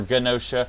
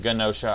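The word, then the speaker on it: Genosha: to see josha or ganosa I've always pronounced it ganosa I think everyone else pronounces it with a soft G but anyway I think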